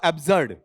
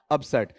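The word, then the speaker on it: absurd: हालांकि शुरू में मैं बोलूंगा, तुम्हें पहली बार बताऊंगा तो मैं बोलूंगा एब्सर्ड, मैं बोलूंगा एब्सर्ड। धीरे धीरे तुम्हें सिखा चुका हूं फोनेटिक, तो मेरा उच्चारण क्या आएगा? अब्सर्ड। जिन बच्चों को मैंने फोनेटिक नहीं बता रखा, वहां मेरा उच्चारण आज भी क्या जाएगा? एब्सर्ड ही जाएगा।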